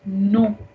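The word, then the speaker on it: non: And the opposite of we is no. No. But we will be pronouncing exactly like we pronounce in English. No remains no, but spelling is different.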